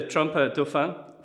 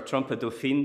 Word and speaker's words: trompe dauphine: So this is the Trompe dauphine, or Trompe dauphine, depending on how you pronounce it. Dauphine, probably, because Trompe is a feminine word.